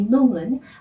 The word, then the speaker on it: Non: 이 농은 아니요라는 말이죠. 노라고 발음을 하다가 이 오 발음을 코로 올려서 발음을 하면 농 이렇게 되는데요.